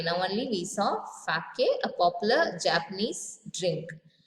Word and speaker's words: sake: Now, you know sake. Now only we saw sake, a popular Japanese drink. Sa is pronounced like fa in father and K rhymes with way.